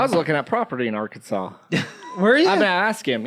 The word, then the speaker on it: Arkansas: I don't get how is that really how it's spelled a r Kansas yeah that's awesome but it's pronounced Arkansas yeah